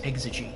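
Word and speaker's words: Exige: car that on stream the Lotus exy and he's like that's not how you pronounce it it's ex and I was like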